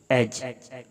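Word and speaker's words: edge: पर बार मत उड़ाओ एज इस कुछ ए पढ़ देते हैं गलत है वो ये एज है डी साइलेंट है इसके ऊपर एज किनारा दिस एज इज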